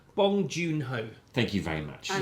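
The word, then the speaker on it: Bong Joon-ho: And would you like to pronounce his name? Would you like to have a go? No, quite frankly, it's Bong Joon Ho.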